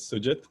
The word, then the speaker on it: Sujith: introducing yourself yes so i guess technically my pronunciation my name is sujit i've got used to all kinds of pronunciations